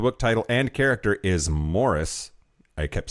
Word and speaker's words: Maurice: I believe the generally accepted pronunciation of the book title and character is Morris. I kept saying Maurice because that's how it was fucking spelled.